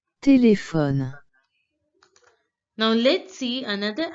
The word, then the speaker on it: téléphone: This accent here, accent acute, changes the pronunciation of the English word telephone. The pronunciation in French becomes téléphone, téléphone, téléphone, téléphone.